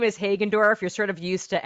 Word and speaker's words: Hagendorf: so I as we've got the wonderful Alison haddenkoff and I hope I pronounced that correctly I usually have a bit